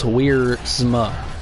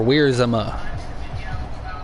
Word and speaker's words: Wiersma: Colby's last name is pronounced Wiersma. Or Wiersma. Weirs or Weirs Emma.